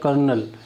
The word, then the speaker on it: colonel: Position मतलब Indian army में जैसे देखो इसको कॉलोनल लिखा जाता है, बट इसका प्रोनाउंसिएशन होता है कर्नल।